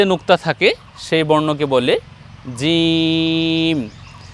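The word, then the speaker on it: جيم: নুক্তা এর নাম হলো জিম এ বর্ণ আমরা উচ্চারণ করব জিহ্বার মধ্যখান তার বরাবর উপরে তালু সঙ্গে লাগিয়ে জিম জি নিচে এক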